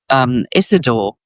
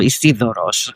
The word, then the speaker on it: Isidoros: And Damascius wrote the story of his master, Isidore, or Isidoros, to pronounce it properly.